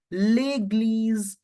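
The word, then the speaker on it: église: and church as leges church will be pronounced as leg because there is accent above the e s is between two w so we have to make the sound of Z legle for the church I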